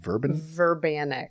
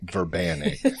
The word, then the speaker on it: Verbanic: Verbanic. Verbanic.